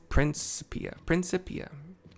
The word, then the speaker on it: Principia: Principia, or Principia, however you want to pronounce it. It's Principia. Paul R. I. Nancy Charlie I. Paul I. A.